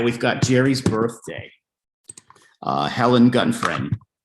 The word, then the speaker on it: Gutfreund: Helen Gutfreund. Gutfreund, is that how you say it, Helen? Good friend.